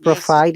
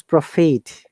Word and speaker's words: profit: and also to me it is not provide it's profit profit okay very good okay